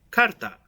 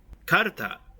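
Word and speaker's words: かるた: the same as the kanji of the word Karta. The kanji characters each literally mean bone and tile respectively, and together suggest the meaning of tiles made out of bone. Karta is the Japanese word for cards and is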